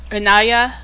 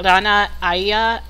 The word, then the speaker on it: Ranaya: So yeah, like I said, Ranaya, which is like Rana Aya, as in I guess you can think Arya Stark from Game of Thrones.